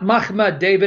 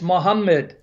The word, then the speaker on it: Muhammad: feet - he said it's not mama David it's Mohammed that's the pronunciation now I have the